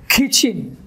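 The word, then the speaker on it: kitchen: তাহলে এখানে এটার উচ্চারণ হবে what? কিচেন, কিচেন, নট কিচেন, কিচেন।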